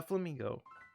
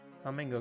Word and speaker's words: Flamigo: Now, Flamigo. If you remember from previous my playthrough, you would constantly hear me just call it Flamingo because I did not know how to pronounce its name because it looks like a straight up flamingo.